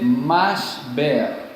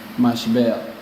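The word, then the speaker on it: משבר: Si ustedes van a buscarlo, después les queda de tarea, se dice mashber, así se dice, mashber.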